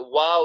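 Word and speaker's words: واو: And we said that waw is a letter that is pronounced by the lips rounding themselves.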